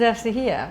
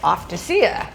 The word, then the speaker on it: Eftychia: Uh and your name is Estahia." But they didn't know how to pronounce my name. So it came out something like Offacea, which was sounded kind of pretty, but wasn't correct.